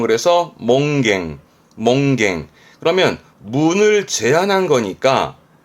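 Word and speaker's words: 門限: 발음은 그래서 몽갱.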